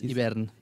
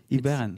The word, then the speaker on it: Hivern: It's Hivern. Hivern. It's in Catalan.